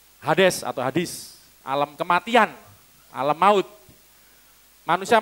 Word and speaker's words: Hades: Atau Hades orang baca. Saya bacanya niru Yunani. Hades atau Hadis, alam kematian, alam maut.